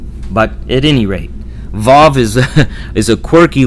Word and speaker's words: Vav: But at first it's mostly thought by scholars that at first it was pronounced with a wa sound, and then later, after